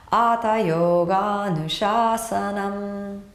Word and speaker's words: Atha Yogānuśāsanam: Atha Yogānuśāsanam. And now all together. Atha Yogānuśāsanam.